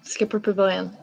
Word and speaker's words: Skipper Pavilion: Is that how you pronounce it? Yes, Skipper Pavilion.